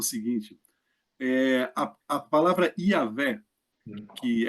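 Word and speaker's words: Yahweh: respirou assim ele disz a nossa respiração ela diz yahvé o nosso o nosso respirar ele diz yavé e foi assim que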